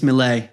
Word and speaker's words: Milei: Did I pronounce his name right? Yeah, I believe it's Milei.